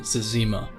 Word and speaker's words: Zezima: Some people pronounce it differently, but I call him Zezima.